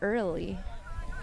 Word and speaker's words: Early: Number 2, Paige Early. I think it's just pronounced Earl, but that was a great defensive play by Paige.